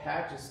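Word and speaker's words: Paget: pathology there's something called Pates disease all right so so I have a friend and they pronounced it page that's probably the correct term but I always say Pates disease but Pates disease is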